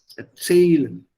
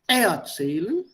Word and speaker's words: erzählen: Erzählen, nicht erzählen, sondern erzählen, zerreißen, verstehen.